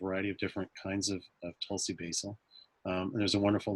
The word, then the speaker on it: Tulsi: and that is called Tulsi. Or as a friend of mine from Bangladesh pronounces it, Tulsi. They put their tongue right behind their teeth and kind of soften that tea a little bit.